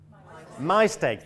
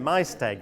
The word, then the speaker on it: Maesteg: Wales, I think, in, how do you say, Maesteg? Maesteg, thank you. I knew I would get it, Maesteg, that's good.